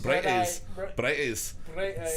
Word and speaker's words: Bright Eyes: I just played the Bright Eyes song, and you say it like Fridays, but with a B. Bright Eyes.